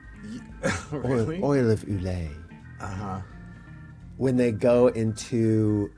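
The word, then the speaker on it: Ulay: go to the UK and to Ireland they spell it oil of Ole u l a y oil of Ule uh-huh when they go into Australia uhhuh they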